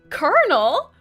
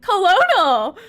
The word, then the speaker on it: colonel: lie what the heck colonel colonel it it obviously says colonal Colonel blame Google the world is wrong Colonel Sanders what what English steals grammar and pronunciation like Lou change Colonel